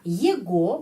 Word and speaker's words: его: Его bacanya его. Karena sudah ada tradisi, ya.